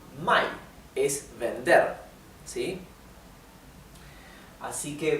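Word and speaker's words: 买: Así que si quieren indicar comprar, tienen que pronunciar bien claramente el tono de la A. Mai, o sea, el tono es cae y sube.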